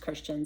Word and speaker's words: Christian: My name is spelled weird, different, whatever, but it's pronounced Christian, so I thought it'd be a little fun pun on words, but Christian Talks.